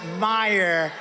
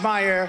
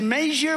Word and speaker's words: Meijer: who spells his name m-e-i-j-e-r but they pronounce it Meyer the hell kind of his spelling is that it's Meijer but it's actually pronounced Meyer who the hell do you pronounce this guy's